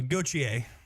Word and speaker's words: Gauthier: And how do you say Jacob's last name again, son? Uh, Gochier, are you sure? That's what he told me. I asked like three times to be certain.